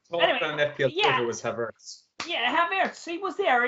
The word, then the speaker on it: Havertz: You, for some reason, thought it was pronounced Havertz and it was a silent R.